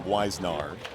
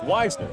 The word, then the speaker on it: Weisner: I think I called him Weisnar. And uh it's Weisner.